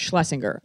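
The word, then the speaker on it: Shlesinger: do you say last name I say it's Schlesinger they try four or five times they say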